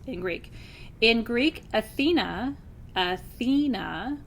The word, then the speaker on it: Athena: Greek in Greek Athena Athena with the emphasis on the middle syllable is the word for